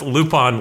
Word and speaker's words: Lupin: up because that's French and you pronounce loop on like that in France yeah cuz we did say Lupin it's like I don't